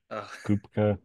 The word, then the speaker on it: Kupka: are here with the one and only kopka is that how you pronounce your last name just making sure um I pronounce it with more of like a CP sound like chicken CP Koopa but I mean okay whatever just check because